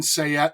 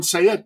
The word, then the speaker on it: Sayet: I was there when they recorded it Evan sayette a deplorable mind which is his standup go